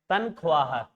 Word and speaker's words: तनख्वाह: तनख्वाह, जी कई बार ये होता है कि जब आ का उच्चारण होकर बाद में है का उच्चारण हो रहा है तो हम अक्सर इसे है को बोलने में छोड़ देते हैं, लिखने में तो रख लेते हैं इसे, तो थोड़ा सा आप ध्यान रखें।